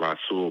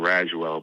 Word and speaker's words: Rasul: eddie griffin and uh rasul butler you always call him rashwell butler oh yeah wait help me out how do you pronounce his first name right it's roxul rasul okay my bad that that's